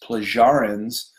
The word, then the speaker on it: Pleiadians: The Pleiadians, sometimes pronounced Plagiarans, are here for our evolution into a golden age.